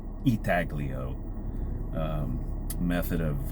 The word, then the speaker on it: intaglio: for the artwork because that intaglio or I think it's pronounced actually eagloo um method of U